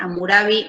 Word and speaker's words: Hammurabi: aprendan se lo bien amurabi se escribe raro hammurabi no era una ciudad